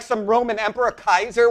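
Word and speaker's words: Caesar: When are you like some Roman Emperor Kaiser, which is the original Latin pronunciation by the way, not the ecclesiastal, which would be Chesar, but nevertheless, do you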